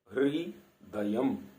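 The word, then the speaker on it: हृदयम्: एक शब्द हम बहुत सुनते हैं हृदयम, हृदयम, अब इसमें री जो है वो र नहीं है, री है। री जो ऋषि वाला री होता है, तो इसमें हृदयम।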